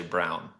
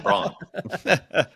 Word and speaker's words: Braun: I refused to say Brown. His name is Christian Braun.